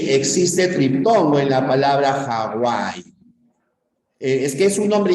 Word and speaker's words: Hawaii: un nombre ya castellanizado Hawaii Recuerda que la B doble o la W con esa suena como una u por lo tanto sí habría Tritón no igual que en Walter al diptongo en Hawaii